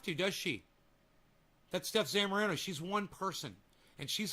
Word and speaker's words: Zamorano: You know, that and the fact that he, I think, purposely mispronounces Steph Zamorano's name.